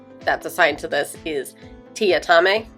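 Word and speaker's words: Teatime: assigned to this is TI atame which is spelled tea time but he is the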